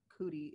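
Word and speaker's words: Coodie: I think it was for Cootie is how it's pronounced, like Cootie, which is the documentary.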